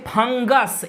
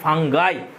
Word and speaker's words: fungi: Next চলে এসো আস থেকে আই, আছে ফাঙ্গাস, ইউ এস এর জায়গায় বসিয়ে দেবো আই, তাহলে হয়ে যাবে FUNGI। এর উচ্চারণ অনেকে ফাঙ্গি বলে, এটা ফাঙ্গি উচ্চারণ হয় না, ফাঙ্গাই।